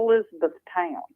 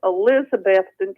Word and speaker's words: Elizabethton: to say it because it is not Elizabeth Town it is Elizabethton Tennessee cute little town